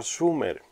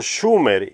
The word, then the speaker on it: Sumer: dice también sear chin excepto por la mala pronunciación del nombre debería de haber sido schumer y no sumer oper tenía razón sumer